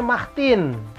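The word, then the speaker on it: Martine: ada yang ini Martin Martin ini yang perempuan Jadi kalau yang perempuan yang bernama kurang lebih Martin itunya ini ibaratnya dibuatnya mahhtin Jadi kalau yang kita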